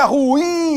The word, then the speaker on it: ruim: linguagem coloquial aí, é ruim, hein? Né? A gente fala assim, na sua pronúncia e tal, mas na realidade, a pronúncia dessa palavra corretamente é oxítona. Ruim. É ruim, hein?